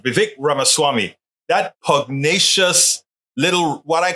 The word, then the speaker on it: Vivek Ramaswamy: Vivek Ramaswamy. That's how he says it. Vivek Ramaswamy.